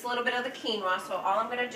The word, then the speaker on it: quinoa: people don't know those sick Kanoa it's quinoa so that's um a whole